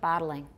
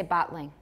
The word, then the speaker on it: bottling: Bottling. I have three, but I could say bottling. Their bottling operation is very efficient. Bottling. How many? That's two, right?